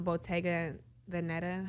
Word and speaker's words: Bottega Veneta: And then the second one for Mother's Day, I got her a Bottega Veneta. How you pronounce that?